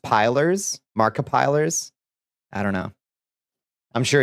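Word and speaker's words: Markiplier: It's pronounced pilers. Markipilers.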